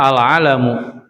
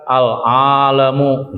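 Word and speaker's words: العَلَم: Jadi bacanya al-alamu, jangan dipanjangin. Jangan dibaca al-alamu gitu ya.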